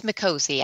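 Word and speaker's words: Micozzi: Is that how you pronounce his last name, Mikozy? It's Mikozy, actually.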